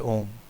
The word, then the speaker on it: ओम: उसके अर्थ को जाने ओम शब्द तीन ध्वनियों से बना है अ उ और म इन तीन शब्द वाले शब्द की महिमा अपरंपार है इन तीनों ध्वनियों को को मिलाने पर सही ओम का उच्चारण होता है अ का मतलब है